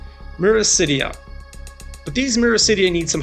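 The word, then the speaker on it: miracidia: baby blood flukes called, let's use the English pronunciation here, Myricidia.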